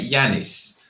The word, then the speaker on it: Giannis: If you're going to say it in an English way, say Yanis. What did I say? Janice is a woman's name.